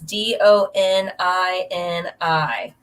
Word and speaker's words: Donini: Jordan, and I'm going to say it wrong. It's Donini. Yep, and that's what it is. That's how it's spelled.